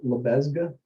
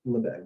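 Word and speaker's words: Lebesgue: the french men so it's like lebesga um but le beg is how it's pronounced and the integral that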